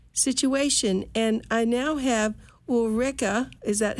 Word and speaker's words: Ulrike: a very unusual situation and I now have Ulrika is that how I pronounce our Rika Rika perfect thank you and your last name is